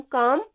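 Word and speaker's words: calm: काम इसमें L silent रहेगा। काम बोला जाएगा। काल में नहीं बोला जाएगा।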